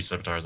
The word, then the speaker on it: scimitar: Ah, 3 scimitars actually. Okay, yeah, 3 scimitars. Okay, so how do you pronounce it in? I'm thinking Scimitars. some. Yep, scimitar. Okay. Yeah, C is the S sound.